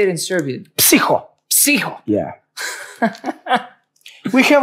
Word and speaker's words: Psiho: Psiho.